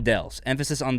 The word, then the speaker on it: Shondells: comment is from k-bob i've always heard it as tommy james and the sean insert all caps dells shaun dels emphasis on the second syllable am i alone on